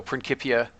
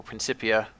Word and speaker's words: Principia: And in classical Latin, C's are hard. So Principia or Cuius or Scientia. Whereas in ecclesiastic Latin, C's are generally soft. For example, Principia or Scientia.